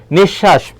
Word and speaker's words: নিঃশ্বাস: কি সতি নিশ্বাস দেখ নিঃশ্বাস এখানে দেখো বললাম বিসর্গ এর পরে যেই বর্ণটি থাকে সেই বর্ণটি দত্ত হবে তলবস আছে তলবস দুইবার হবে এখানে নিশ তারপরে কি হবে শ্বাস হবে আর দন্তশা থাকলে তো সেখানে তালবস হবে এরপর অভ্র ভয় রফলা রয়েছে